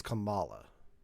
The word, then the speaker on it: Kamala: um well that's com that's camilla this is kamala oh i thought it was spelled the same it's spelled the same it's pronounced differently oh okay all right